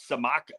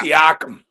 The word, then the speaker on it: Siakam: And I like your guy, Samaka. How do you say his name? Siakam? No, Yeah, Siakam.